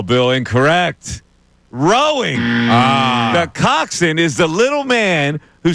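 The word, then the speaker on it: coxswain: In what sport does a coxin participate in? Oh, boy. Now, that's spelled C O X S W A I N. I'm going to What sport does a coxin participate in?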